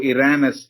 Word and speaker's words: Irenaeus: So Irenaeus is how it is pronounced, I am told.